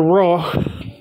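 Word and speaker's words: Rauh: Raw. And that's spelled R-A-U-H.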